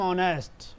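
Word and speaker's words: honest: यानी कि आई एम ऑनेस्ट automatic आ जा रहा है ना आई एम ऑनेस्ट नेस्ट मत बोल देना इसमें एच साइलेंट होता है आई एम ऑनेस्ट क्लियर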